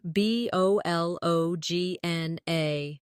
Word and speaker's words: bologna: like kernel, or bologna, which is spelled b o l o g n a but pronounced bologna.